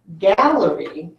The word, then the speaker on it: gallery: So in this word gallery, if I were to break it into its syllables, watch what I would do. Gal, ler, e. It's 3 syllables.